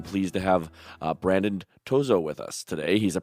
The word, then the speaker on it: Tozzo: uncommon i'm just happy students don't call me toro i've gotten uh too so i've gotten uh